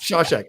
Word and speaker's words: Shashek: Yeah, it's pronounced Shashek, but yes. Shashek, okay. Like Shawshank Redemption, but without the end.